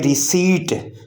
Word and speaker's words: receipt: RECEIPT, इसमें P silent है, P silent है यहाँ, और ये पढ़ेंगे रिसीट, रीसीट, रीसीट, इसमें P हम नहीं बोलेंगे, और इसका माना है रसीद।